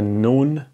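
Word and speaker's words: נ: okay this is the noon in writing form how is it pronounced it's pronounced like no this is now the N okay like n like for example no okay so so far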